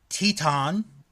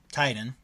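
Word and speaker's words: Titán: El Desperado, Taka Michinoku, Yoshinobu Kanemaru, Bushi, Flip Gordon will be in it, Teton, or Titan, for those that want to go by how it's spelled, Marty Scurll, Dragon Lee, Robbie Eagles, Jonathan Gresham, Bandito, Shingo Takagi, and the mystery wrestler.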